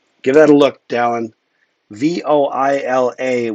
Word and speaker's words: voila: circle a bunch, and viola. I think you mean voila. Um, ink comes back to the tip. Give that a look, Dallin. Voila with an accent on the A for voila.